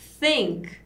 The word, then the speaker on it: think: Então, para conseguir pronunciar a palavra think, que é pensar, a gente mais ou menos fala sink, que é afundar, só que na hora do S a gente bota a língua para fora.